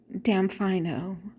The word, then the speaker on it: Damfino: And if you don't know, you will say, damfino, or damn if I know. So that's basically what it means. It's I don't know, damn if I know. But if you say it quickly, it's damfino.